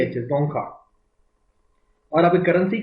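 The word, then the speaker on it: Dzongkha: पूछ सकता है आपको लैंग्वेज का नाम है जोखा डी जड ओ एन जी के एच जोखा और आप करेंसी का नाम है गुल तरम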